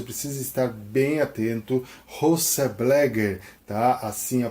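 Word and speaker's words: Bleger: José Blagger, tá? Assim a pronúncia.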